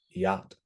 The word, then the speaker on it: yacht: sound right Charlotte or sometimes CH is silent right like yacht um and sometimes it